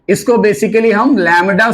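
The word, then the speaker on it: lambda: है बेटा इसको हम लडा बोलते हैं अगर प्रोनंसिएशन की बात करो तो एल एम बीडी B silent रहता है तो हम बोलते क्या लडा क्लियर है क्र समझ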